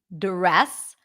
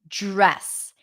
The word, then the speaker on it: dress: can you hear that I'm not really pronouncing a D sound I'm not saying dress I'm saying dress it's like a j sound the J is a voiced pair it's the voiced pair of the CH sound J J dress draft